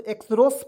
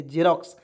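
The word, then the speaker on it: Xerox: ई आर ओ एक्स इसे क्या पढ़ेंगे दोस्तों एक्स रोस पढ़ेंगे बिल्कुल गलत इसे हम लोग पढ़ेंगे जेरोक्स अबी कैसे हो जा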